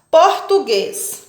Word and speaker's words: português: as proparoxítonas são acentuadas português E aí e por tu tu guez a palavra português é uma palavra oxítona porque tem a última